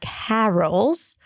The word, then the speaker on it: carols: So it's not carols, but carols. An R sound, a schwa, and a dark L. Carols. Carols.